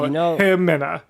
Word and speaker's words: Ximena: It's Ximena, but the X is an H in that dialect, so Himena.